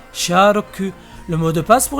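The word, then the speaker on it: シャーロック: aléatoire en effet car en prononçant les chiffres à la japonaise ça nous donne Shi roku qui est la prononciation japonaise de charlock sharoku le mot de passe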